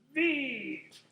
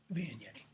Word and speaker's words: Viognier: And as a matter of fact, it's kind of hard to pronounce. So we do kind of like the village people. We go Viognier. Viognier.